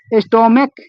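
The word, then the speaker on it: stomach: स्टोमक ये जो होता है, यहाँ CH जो होता है किसका उच्चारण देता है, क का।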